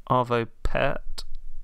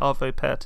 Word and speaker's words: Arvo Pärt: should we go for Arvo Pärt? Yes. Would you pronounce it Arvo Pärt as well? I think so. I mean, I'm going by the German version of the A with the umlaut, so same, I think so.